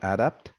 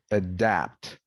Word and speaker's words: adapt: Not adapt, but adapt.